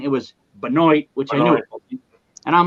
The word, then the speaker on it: Benoit: Buddy, I'm going to bring to the show a guy that you booked, a guest, and I officially win the pronunciation of his last name. Benoit.